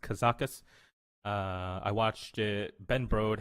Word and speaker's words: Kazakus: my opinion, has been released out of Gadgetzan, Kazakus. That's how it's pronounced, Kazakus. I watched it. Ben Brode had said it out as well. So Kazakus is the way you say it.